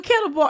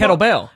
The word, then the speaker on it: kettlebell: Wait, if I'm saying it right, the kettleball. The kettlebell. Whatever.